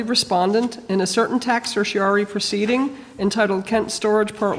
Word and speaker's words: certiorari: So I'll read it if you tell me again how to pronounce certiorari.